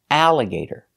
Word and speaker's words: alligator: They are spelled A-L-L, but they are pronounced a, like apple. So the sound is al. Some examples, infallible, challenge, and alligator. These are special words because the pronunciation is different. They're pronounced a, together al. So infallible, what does it mean?